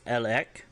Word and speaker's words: elek: So if you want to say yes, it's elek, spelled E-L-E-K, and I'll try to do better on giving you all the spelling as I'm saying these.